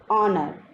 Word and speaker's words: honor: But here in these words H is silent and the word is beginning with the vowel sound R. Honest, honor, awe. So here H is silent and the words begin with O vowel sound.